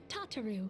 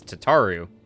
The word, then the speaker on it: Tataru: arrived but recently and no one will ever pronounce tataru that way again nope no i won't because it's tataru not tataru we have received a